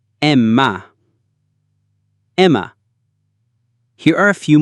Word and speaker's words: Emma: E is pronounced like the E in bet or as in the exclamation, A. Emma. Emma.